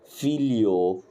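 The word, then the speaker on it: figlio: ده ليه لي هنا الجي سايلنت دايما التلاث حروف دول مع بعض هتلاقي الجي سايلنت على طول زي كلمه ايه مثلا زي كلمه فيليو زي كلمه ايه فيليو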